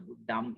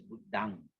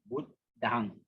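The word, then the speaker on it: Buddhaṃ: Long O, long E, all are the same, except maybe in the Buddham and ours is Buddhang. Yeah, in the Pali phonetics, it's supposed to be pronounced as D-A-N-G, Dang, Buddhang.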